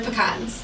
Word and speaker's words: pecan: They're pecans. Oh, they look delicious. Or pecans or pecans. Okay, this this is or pecans. pecans pecans YOU GUYS THINK ABOUT HOW YOU PRONOUNCE THE word pecan or pecan.